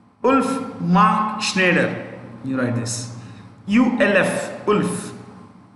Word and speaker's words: Schneider: Nestle's CEO is, right, Ulf Mark Schneider. You write this. ULF, Ulf, space, Mark, M-A-R-K, Mark, Schneider, S-C-H-N-E-I-D-E-R, Schneider, S-C-H-N-E-I-D-E-R, Schneider.